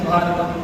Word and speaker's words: Bharatam: The connection that we feel comes through the name, which is correctly pronounced as Bharatam or Bharat.